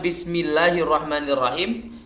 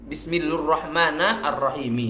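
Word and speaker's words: بسم الله الرحمن الرحيم: Kemudian di sini juga dikatakan bismillahirrahmanirrahim diganti bismillurrahmanirrahimi. Nah, ini unik sekali cara bacanya bismillurrahmanirrahimi gitu. Ya, ini kesalahan fatal.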